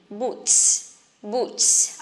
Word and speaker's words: boots: When T and S go together, we just pronounce S strongly. Boots, boots, okay?